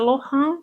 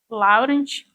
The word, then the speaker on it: Laurent: Tem gente que pronuncia Lohan, tem gente que pronuncia Laurent. Tanto faz. Você que sabe. Escolha a sua forma de pronunciar.